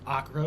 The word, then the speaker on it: Acre: just the Fortress of Akra which is spelled acre like an acre of land uh it's a very